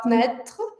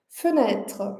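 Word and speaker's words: fenêtre: Então, a gente tem na primeira sílaba e a gente não vai falar fnet, né? A gente vai falar fet, fetre fetre. Então, o primeiro e a gente mantém bem curto, bem fraco, bem arredondado.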